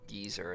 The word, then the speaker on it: Geyser: Scalding Geyser, or Geezer as some people like to pronounce it.